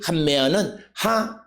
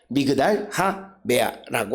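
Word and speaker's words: מגדל המאה: 이것을 우리가 그 다게시 포르테라고 하는 개념을 잘못 이해하면 쓰기로 더블링인데 발음도 더블링으로 한다라고 잘못 이해해서 한메아 이렇게 하는데, 이 부분에 대한 히브리어의 발음은 미그달 하메아이다. 미그달 하메아라고 하는 것입니다.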